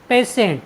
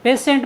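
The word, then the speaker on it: patient: आई ई एन टी पेशेंट पेशेंट means होता है रोगी साथियों यहां पर टी के बाद आई ई आया है इसलिए हमने टी का उच्चारण स किया है और हमारा आज की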